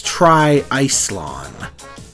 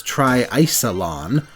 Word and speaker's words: TriIcelon: to get it out of the way that's tri-ice lawn the English announcers pronounce it as try isilon but either way an absolutely insane portmanteau to